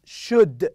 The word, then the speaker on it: should: not shouldn't should not should not short don't pronounce child should should L is silent okay we you should and